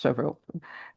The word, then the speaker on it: Cheuvreux: Prior to joining PIMCO in 2018, he worked as a senior ESG and sustainability research analyst at Kepler Cheuvreux, pronounced as Chevreau. I hope I got that right, where he was responsible